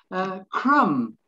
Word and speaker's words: crumb: is a cochlear hair crumb again silent b yes now this is